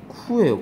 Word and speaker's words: coup: 얘는 발음이 coup예요. coup. 얘는 태생이 프랑스어라서 coup라고 발음해요.